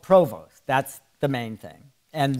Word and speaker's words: Provost: Provost, what is that French? Yes. Right. Do you speak any French? Provost. Now, if we lived in Canada, they would pronounce it Provost. They don't pronounce the ST.